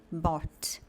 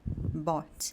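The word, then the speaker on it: bought: Então, na primeira palavra que a gente tem, por exemplo, a gente vai pronunciar isso aqui como "bot". Então, olhem só, "bot".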